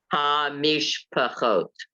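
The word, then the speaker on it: המשפחות: If you have two next to the other, one has to end a syllable and one begins a syllable. If you have two of the two dots next to each other. So it's ha-mish-pachot.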